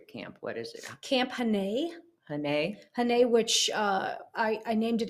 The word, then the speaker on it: Ginnese: I don't want to mispronounce the name of your camp. What is it? Camp Ginnese.